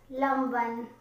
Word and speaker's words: Lanvin: get this one um lomban the spelling is labian in english alphabet you say london but when you say it you pronounce french this is really good